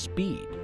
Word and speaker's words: SPēD: The Security Professional Education Development Program, identified by the acronym pronounced SPEED, supports DoD security professionals in meeting this challenge.